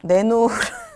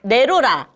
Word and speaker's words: 내로라: 예 맞아요네게 알고 계 이거는 내로라 그니까 발음대로 하자면 나는 내로라 하는 사람이야 맞아요 그게 나로다 아 그 방면에서 나로다 그게 이렇게 해서 거기서 이제 내로라 된 거서 내노라고 많이